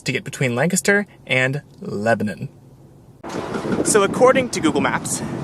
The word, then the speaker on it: Lebanon: my comments saying that i pronounced it wrong and to them i will say you're right i give people flack all the time for saying lancaster instead of lancaster and already i have completely mispronounced the city just to the north of us it is apparently lebanon not lebanon anyways i'm riding this